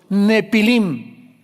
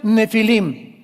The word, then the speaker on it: nefilim: de gigantes llamados los nepilim. Esas palabras, si tienes tu Biblia dice gigantes, ponle nepilim con ph. Nepilim se pronuncia nefilim y significa caídos.